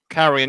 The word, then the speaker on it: Carrion: playing a little indie title called i'll probably pronounce this wrong it's either carrion or carrion carry on yep carrion yeah i've really enjoyed that i've actually just